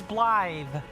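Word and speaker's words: Blaidd: His name is Bllythe. Uh, spelled with Gaelic. Uh, spelled with Gaelic letters. Uh, B L A I D. D in Gaelic is usually pronounced as th.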